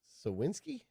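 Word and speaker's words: Suwinski: the bat and yet we got sawinski that's how you say his name yes he had a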